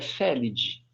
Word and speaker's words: Felidae: A gente não fala família Felidae. A família é Felidae. Okay? O A é mudo.